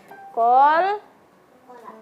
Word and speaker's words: qalqalah: Kol kola. Kolkola bukan kola ya, Kak Habib ya. Bukan kola.